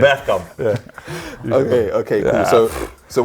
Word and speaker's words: Bergkamp: You said You it said properly, Bergkamp.